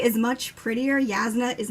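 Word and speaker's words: Jasnah: I say Shalon and Yasna because the J to me reads like a Spanish J.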